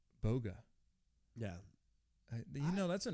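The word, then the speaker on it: Bugha: you can't see it it's spelled B ugh a my guess when this guy originally created this gamertag the way he pronounced it in his head was Booga like I'm a Booga I'm a booger like in your nose problem but when he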